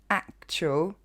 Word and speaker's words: actual: bit inside the actual usually you don't get it right because you don't know how to pronounce actual okay it's quite far off from the french actuel it's not a trell a jewel it's actual okay last little bit all